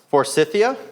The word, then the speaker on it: Forsythia: I have an old, hold on, I may mispronounce this one, Forsythia?